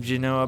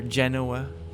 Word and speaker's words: Genoa: Spanish forces and austro-civosian forces converge outside of Genoa but or Genoa the proper pronunciation but um I'll play the scenario a